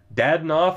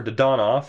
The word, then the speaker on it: Dadonov: Samuel Girard with the Norris, Walton, the Lady Byng, Dadonov, or Dadonov, as it would actually be pronounced, is the Calder winner.